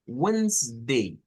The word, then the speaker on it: Wednesday: Handkerchief, handsome, hedge, sandwich, wage, Wednesday. Wednesday. Otra vez, que solo se escuchan dos sílabas. Wednesday.